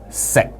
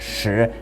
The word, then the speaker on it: 食: But those characters, se and yam, and in Mandarin they're pronounced shi and yin, they still retain their